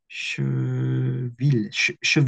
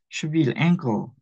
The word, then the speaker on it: cheville: cheville ou cheville la prononciation cheville et moi si je